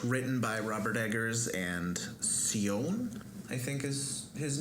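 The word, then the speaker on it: Sjón: by robert eggers and sione i think is his name it's a mononym um obviously a scandinavian pronunciation right is uh spelled s-j-o with an accent n yeah presumably that's where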